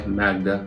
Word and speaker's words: Magda: My name is and welcome to my Magda vlog channel. It's spelled M-A-G-D-A, called Magda, and it's not MAGA because I don't want